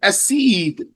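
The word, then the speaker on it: أَسِيد: That's what's meant by spelled the same here, but pronounced differently because we have a dhamma on the first letter for the first word and a hamza on the first letter of the second word.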